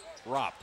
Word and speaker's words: Arop: The A is silent, I'm being told. Manny Arop.